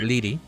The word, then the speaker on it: Liri: Liri, but pronounced Leedy.